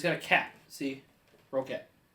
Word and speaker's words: Roccat: The Roccat. I still don't know how it's Roccat. It's in my opinion, Roccat. Roccat. And it's got a cat. See? Roccat.